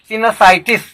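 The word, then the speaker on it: sinusitis: Next word सिनसाइटिस। देखो यह साइनस शब्द से लिया गया है, लेकिन ITIS लगने से सिनसाइटिस इसका प्रोनाउंसिएशन होता है।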